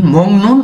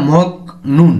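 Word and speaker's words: 먹는: আগেই জেনেছিলাম গিয়ক বাচ্চি এর পর নিউন আসলে বা মিউন আসলে আমরা কি করি গিয়কটিকে অনুস্বারের মত উচ্চারণ করে থাকি তো এখানে আমরা মগ নুন এভাবে না বলে কি বলছি মং নুন খাওয়ার অংশিক মানে খাবার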